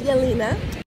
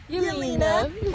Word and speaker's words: Jelena: Her name is Jelena. Jelena with a J because they don't pronounce the J's. It's pronounced as a Y.